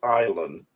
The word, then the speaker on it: island: And she said, "I know it's pronounced island." I said, "But it says Island." She said, "I know, but the S is silent."